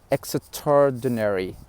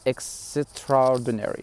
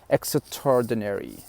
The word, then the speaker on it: extraordinary: definitely worthwhile number eight extraordinary extraordinary and you notice i didn't pronounce the a i said extraordinary not extraordinary no it is extraordinary extraordinary for example she